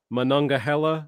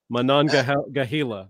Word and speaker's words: Monongahela: the, oh man, this is a tough one, Monongahela. Sorry for all those who are in Pennsylvania and West Virginia. I don't know how to pronounce that really well. Monongahela. Monongahela.